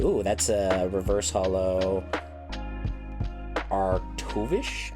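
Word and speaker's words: Arctovish: that's a reverse holo arctuvish that's how you pronounce it and then what's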